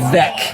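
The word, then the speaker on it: Veeck: former cubs president william vek i believe it's pronounced william beck he added ivy to the outfield walls of wrigley in 1937.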